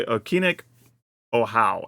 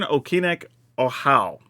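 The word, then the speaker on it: Okinec Ahau: this one was definitely in there because I pronounced oh it's oh how that's how okic oh how is how you say this all right so Sovereign okic oh how cuz I for some reason I thought I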